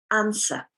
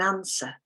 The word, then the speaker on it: answer: next word is an answer i'd like an answer i'd like an answer this letter here is a w but we do not pronounce it in answer we have the forget